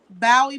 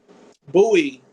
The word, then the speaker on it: Bowie: see if it's I have someone in here saying she's from Bowie, Maryland. Bowie.